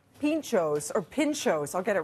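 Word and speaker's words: pintxo: Pinxto.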